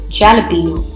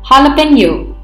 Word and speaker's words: jalapeño: topping in many dishes it is often incorrectly pronounced as champion please remember the jr.